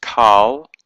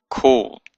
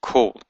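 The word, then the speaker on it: כֹּל: It means all, and it's not pronounced Qal, but kol. It has a o sound, even though it has a kametz here.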